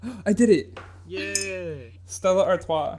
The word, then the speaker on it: Stella Artois: it's like famous enough to the where the pronunciation is like knowable I did it yeah yeah Stella Artois not to make fun of you making could